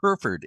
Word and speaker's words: Hereford: Herford Scott just corrected me in the the pronunciation Herford Inlet Lighthouse which is our main subject for